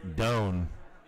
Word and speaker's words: Doan: my buddy Travis Blank Nick Doan not Nick June which is what I